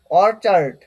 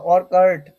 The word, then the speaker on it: orchard: আচ্ছা, তারপর দেখো অরচার্ড, অরচার্ড বা অরকার্ট, অরকার্ট উচ্চারণ করলে কোনো সমস্যা নেই, অরকার্ট বা অরচার্ড।